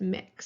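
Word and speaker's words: Mx: the gender neutral honorific it's pronounced mix so mix Johnson would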